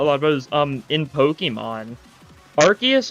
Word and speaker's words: Arceus: Arceus is pronounced, like, Arceus in, like, Japanese, but it's pronounced Arceus usually in English. It varies a little bit, but it's mainly because they don't want it to sound like arse. Because, you know, that's, you know, not the best thing to say in, like, British places.